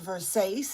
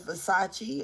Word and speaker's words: Versace: like she says Versace instead of Versace or like that.